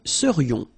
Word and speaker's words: serions: And then this is this yon, yon. Remember, it goes in your nose. It's nasal. Yon. Nous serions.